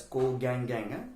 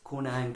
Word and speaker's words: Konang: Don't pronounce it as Ko Gang Gang. It's Konang tree.